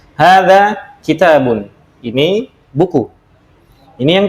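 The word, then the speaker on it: هذا: Hanya seakan-akan pendek ya, namun ini bacanya panjang. Hadza kitabun.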